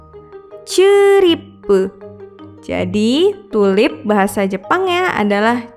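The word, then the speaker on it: チューリップ: Ditulis dengan huruf katakana jadi chi, yu kecil, strip, ri, pu, ceripu.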